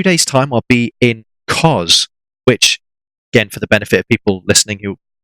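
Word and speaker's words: Kos: up in two days time I'll be in cause which again people listening you already sure if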